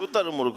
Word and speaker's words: شتر مرغ: آپ نے صحیح بتایا۔ شتر مرغ، شتر مرغ صحیح تلفظ ہے، شتر مرغ۔ جواب بالکل